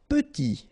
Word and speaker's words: petit: Petit, okay, remember to pronounce this E like a petit, final T not pronounced, petit.